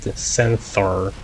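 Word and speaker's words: 1000-THR: If you read the name 1000-HR with that, like more phonetically, when replacing 1000 with sen, you get centaur, or centaur, and well, it's a centaur.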